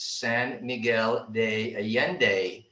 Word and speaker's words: San Miguel de Allende: the city name is san miguel de allende those double l's down here in mexico alfonso can chime in those double l's down here are pronounced like a y so it's always a